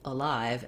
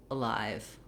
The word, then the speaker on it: alive: on that at all live has a nice long clear vowel the uh is just very very short little stepping stone to my stress syllable the letter i in